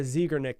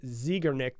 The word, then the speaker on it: Zeigarnik: name, but it's called I've heard many different ways when I was researching this, but I'm going to say the Zeigarnik effect. So Zeigarnik effect is basically how you say it.